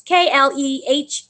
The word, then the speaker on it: Klehfoth: I don't know how to pronounce her name. Klehfoth? It's Klehfoth.